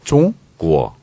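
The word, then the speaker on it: 中国: 그래서 중국은 네. 중으로 안 나고 종, 종? 구어. 종구어. 종 발음 있잖아요. 받침 종구어. 있잖아요. 종구어. 이응 받침이 아니에요. 그렇지.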